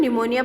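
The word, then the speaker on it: pneumonia: है सी हैज निमोनिया इसको आप बच्चों निमोनिया पढ़ेंगे क्योंकि इसमें जो पी होता है वोह साइलेंट होता है उसको निमोनिया हो जाता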